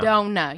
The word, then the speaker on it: Dohna: Dohna. Okay. Yeah. Kind of like donut, but you just don't pronounce the T.